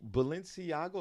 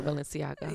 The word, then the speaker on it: Balenciaga: to watch too much of that uh Valencia balenciago am I pronouncing yeah Balenciaga yeah first of all I've never even heard